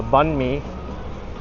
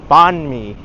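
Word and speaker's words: bánh mì: Oh, the bunme. Oh, that's another word that people pronounce incorrectly all the time.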